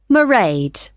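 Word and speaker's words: Mairead: do you spell that it's m a i r e a d marade okay got that it's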